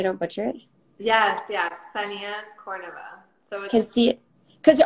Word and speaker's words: Kseniya: me so i don't butcher it yes yeah senia someone can see it cuz where are you from originally i'm like butchered i was born in russia so i